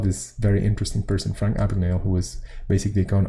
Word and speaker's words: Abagnale: on a bun Abagnale I never remember how to pronounce this name of this the name of this icebreaker correctly Abagnale that's it and I've seen the